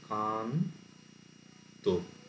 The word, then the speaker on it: কান্ত: ত আছে যুক্তাক্ষরে তো উচ্চারণ আমরা কি এরকম করি যে কান তো যুক্তাক্ষর যেটা আছে সেটা ভেঙে গিয়ে মানে আগের সিলেভেলে ন চলে গেল পরেরটায় ত আছে কান্ত তো এর মধ্যে কি